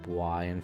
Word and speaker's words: Yae: Yae is pronounced like I, with a Y in front.